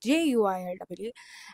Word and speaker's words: Zuili: So, hi, my name is Zuili, and Zuili is not spelled like Zuill. This, despite of what you would have thought, it's Juill.